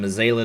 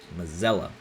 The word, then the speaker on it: Mazzella: half car links from mazela to kill day Mazzella excuse me mozella I knew how to pronounce his name mozzarella and Wayne root Bracken